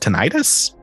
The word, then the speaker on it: tinnitus: Kind of like, how's this pronounced? Tinnitus?